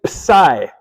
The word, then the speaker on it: psi: It takes the P and the S and puts them together. Okay, so it's actually psi.